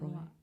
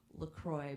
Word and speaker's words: LaCroix: That and LaCroix.